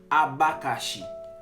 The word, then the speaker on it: abacaxi: Abacaxi dans portugais, il est appelé comme ça A B A C A X I. OK? Dans langue portugais, mais dans langue française, c'est A B A C A X I. Il prononce comme ça dans portugais abacaxi.